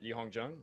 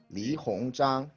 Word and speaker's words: Li Hongzhang: They actually chose Li Hongzhang. Is that how you pronounce it? Li Hongzhang.